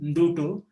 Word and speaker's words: Ndutu: During the month of February, these wildebeests congregate in a place called Dutu, and it is spelled as Ndutu. N is half pronounced, Ndutu, and they gather there in millions.